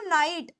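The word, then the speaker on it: night: मैं लि लिखती हूं नाइट जी एच आ रहा है नाइट के अंदर है ना लेकिन यहां पर ये जी एच साइलेंट है लेकिन अगर मान लो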